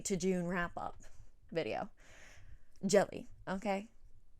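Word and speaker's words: Djèlí: this video today because i realize i absolutely butchered it in my you know january to june wrap up video jelly okay jelly p jelly clark okay phenomenal book let me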